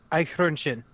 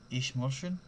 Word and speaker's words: Eichhörnchen: the umlaut over the O turns it from an O sounding to a U sounding.